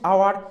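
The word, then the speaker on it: hour: honest and আওয়ার এই যে দেখো এখানে অনেস্ট আওয়ার আমরা দেখো এইচ উচ্চারণটা উৎস আছে মানে কি অনেস্ট এবার কি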